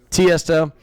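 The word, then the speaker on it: Tiësto: Tiesto.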